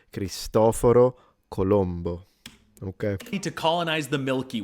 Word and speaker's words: Cristoforo Colombo: I'll go back to this one cuz I want to see the joke with the aliens, but let's pronounce it once the correct way in Italian. Cristoforo Colombo.